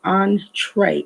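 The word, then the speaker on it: entrée: means at all but entree pronounced just the way i said it on like on hyphen t-r-a-y tray on tray it is a french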